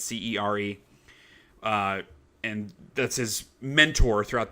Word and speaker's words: Cere: I don't know how you pronounce her name. It's Cere.